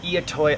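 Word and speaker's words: I'itoi: it's full of the eat toy onions that's spelled I apostrophe i t oi three I in that name and these are like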